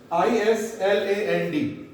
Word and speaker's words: island: Now, this is ISLAND. This is island. Island. Yes, S is not pronounced.